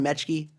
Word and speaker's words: Metschke: the format for this interview I've got mechke who we are going to did I pronounce that right mechke yep all right we got it nailed it